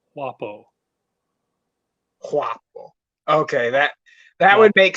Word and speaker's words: guapo: italia italo romance varieties guapo is pronounced roughly as wapo okay that that would